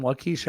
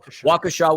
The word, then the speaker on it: Waukesha: Waukesha nothing but love I would have absolutely pronounced it the way you did the first time wakisha I had no idea how that's how that was pronounced so for all of